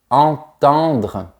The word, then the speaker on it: entendre: Pour bien prononcer le verbe entendre, tu dois imaginer un rectangle vertical dans ta bouche 2 fois de suite. Entendre. Une fois de plus, on a les lettres EN, donc je prononce en.